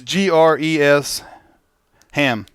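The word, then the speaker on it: Gresham: It's Gres Ham.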